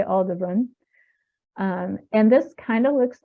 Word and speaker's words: Aldebaran: like sort of joking arguments about how to pronounce things. But I'm going to say Aldebaran.